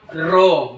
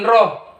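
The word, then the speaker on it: ρ: Bacanya ro, bukan roh. Nah, kalau ini, nah seperti ini bacanya baca. Ya, ro, hanya di tengah. Bukan roh.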